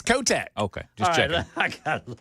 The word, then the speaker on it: Kotek: Tina Tina Kotch. I might be mispronouncing it. Is that Am I saying it wrong, Ken? There's not an X on the end of that name. Oh, her name is It's Kotek.